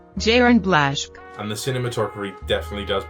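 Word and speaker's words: Jarin Blaschke: closely with his cinematographer jarn BL I probably said that wrong I'll throw up the pronunciation now so I like an idiot jiren blash and the cinematography definitely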